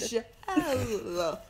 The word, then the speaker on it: Michelle: Your name is 3 syllables, you've said. Michelle.